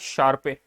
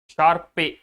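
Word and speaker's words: Sharpe: Capital market theory, CMT, बाय शार्पे। शार्पे, but actual में इसका है ना प्रोनाउंसिएशन शार्प ऐसा होता है, बाय शार्प। ओके, पे मत कर देना उसको, हम तो ऐसे ही बोले।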